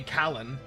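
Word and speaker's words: Khalan: I could change his pronunciation to be Kalen. That might help. It's also spelled the same way. His name is K H A L A N. So Kalen would also be effective.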